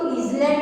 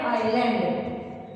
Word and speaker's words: island: Okay, इसको हम, इसका स्पेलिंग है ISLAND, तो हम उसको इजलैंड नहीं बोलते हैं। ओके, इसमें एस साइलेंट होता है, आइलैंड बोलते हैं। A piece of लैंड surrounded by water on all sides, तो आंसर है आइलैंड।